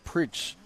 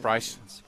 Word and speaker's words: Price: i've been yeah so i've been saying his name preach pritz or i would just say john i wasn't i was never sure how to say his last name yeah like price like price uh in english right okay i got